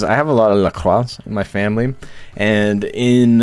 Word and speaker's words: LaCroix: It's LaCroix. You gotta say it like that. You gotta roll the R. LaCroix. Can't say it LaCroix.